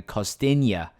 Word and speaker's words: Costinha: And I feel like Castagna here, is it Castagna? No, I don't think it's Castagna. Costinha, right? That's how you pronounce his name.